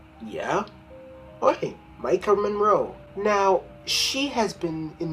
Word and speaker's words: Maika Monroe: stars for some reason no one can say her name right but I'll say it Micah Monroe yeah he Micah Monroe now she has been